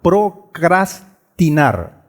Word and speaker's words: procrastinar: es procras, o sea, tiene dos R's intercaladas, procrastinar. Procrastinar.